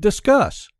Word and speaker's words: Disqus: most familiar with the first one is called discuss that is spelled d is q us you can find